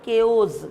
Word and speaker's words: chaos: disorder or confusion so you have to pronounce it chaos ko is when something unusual